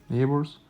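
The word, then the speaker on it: neighbors: يعني كوميونيتي كوميونيتي جران نيبورز نيبرز ولو اخدنا بالنا هنا الجي والاتش سايلنت يعني ايه سايلنت مش بننطقهم يعني الجي والاتش سايلنت مش بننطقهم يبقى نيبرز رائع مودش كول كول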